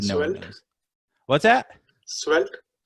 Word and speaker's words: Svelte: I've also started slowly looking at, Selvete, I don't even know how you say it.